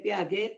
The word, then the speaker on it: Piaget: Teori kognitif dari Piaget ya, Piaget tulisnya ya. Dari Piaget ya, Piaget bacanya ya.